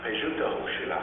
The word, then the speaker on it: Pejuta Hoshila: My Indian name in the Sioux language is Medicine Boy, and that's pronounced Pejuta Hoshila in my language.